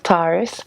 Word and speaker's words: Tarrice: It's pronounced like the zodiac sign Taurus. Tarrice.